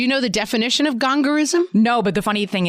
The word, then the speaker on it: gongorism: spelling bee words because it's spelled exactly like it sounds. Like I think she tried to like get cute with it, but it was GONGORISM, gongorism.